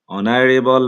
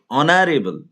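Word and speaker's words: honorable: অনারেবল ম্যান সম্মানিত লোক অনারেবল অনারেবল এখানে এইচ এর উচ্চারণ কিন্তু এইচ অনুচ্চারিত আছে যার কারণে আমরা এখানে এন বসাবো এখানে এন বসছে কেন এইচ অনুচ্চারিত অথবা ও এর মত সাউন্ড আসছে অ এর মত আমরা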